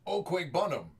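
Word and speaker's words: Okwuegbunam: out of 10 Joe burrow uh actually it's pronounced oqu bunam uh but Albert prefers people not to try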